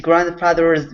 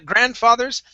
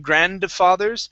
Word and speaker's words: grandfathers: the day of his grandfather's funeral. Okay, very good. Now, in grandfathers, the D is not pronounced. Okay, so we don't need to pronounce that. So instead of saying grandfathers, it's grandfathers.